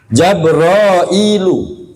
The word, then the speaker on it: Jabrail: Jabrailu. Kalau bentuknya begitu bacanya Jabrail. Kalau Jibril, hilangkan hamzahnya, ini bacanya Jabrail.